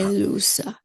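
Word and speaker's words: ἔλυσα: luo luso luso elusa elusa See, the accent's on the epsilon. elusa elusa elusa Listen to that. That word elusa is three syllables. E lu sa. It's three syllables.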